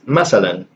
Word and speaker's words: مثلا: Like I've seen the change from مثلا to matalan, and here's the thing with this example, you can also pronounce this masalan, so as an S, but I don't think I've ever seen it written with an S.